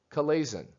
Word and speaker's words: chalazion: This is pronounced chalazion.